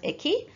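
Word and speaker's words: 駅: Okay, now this kanji is pretty straightforward, it's just pronounced eki.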